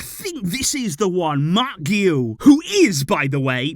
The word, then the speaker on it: Marc Guiu: upon could we actually see in this game Mark Gil which I am reliably informed is the correct pronunciation G it is a difficult one I